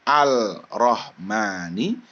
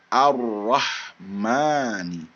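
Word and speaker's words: الرحمن: dalam huruf road ya jadi bacanya bukannya Al rohmani tapi dibacanya ar-rahmani ar-rahmani ar-rahman Hai itu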